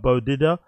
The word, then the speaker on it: Beau: diddler was it uh big up Peter it's pronounced Bo okay bod Didia bod Didia big up bodia